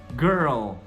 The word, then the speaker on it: girl: Mesma coisa com girl, é a mesma pronúncia. Você tem girl.